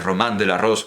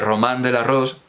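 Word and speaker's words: Roman de la Rose: famosa miniatura del del román del arroz vamos a pronunciarlo en el francés de la época colar como sonaba de román del arroz román del arroz aparece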